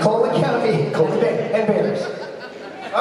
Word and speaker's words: Bexar: It's ironic because I hate bears. Talking about bears. But it's spelled Bexar. Bears.